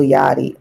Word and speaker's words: Yachty: little yachi little yachty it spelled like yachi but little yachty um they did a